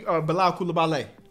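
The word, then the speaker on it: Bilal Coulibaly: Kuzma, Jordan Poole, Danny Abdia, and a rookie, Bilal Koulibaly is the way I've heard it pronounced.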